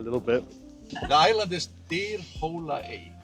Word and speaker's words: Dyrhólaey: be on my video telling me how it's pronounced. I'll have to ask our driver in a little bit. The island is Dyrhólaey. Dyrhólaey.